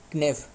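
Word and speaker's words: knave: नेव clear नेफ नेव ने इसके part of speech क्या है? नाउन है के साइलेंट है।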